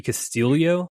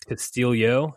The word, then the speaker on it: Castillo: I didn't realize it's Castillo, not Castillo. Yeah, he was an ex-Florida Gator. Yeah, I guess he's Filipino, so that's why it's pronounced like there's an I in there, but there's not one.